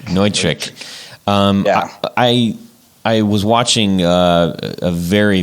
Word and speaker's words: Neutric: So you mentioned on the site that you're using Nutric Connect. Is that how you say it? That's the way I really want to say it, but I think the proper pronunciation is Neutric. Neutric.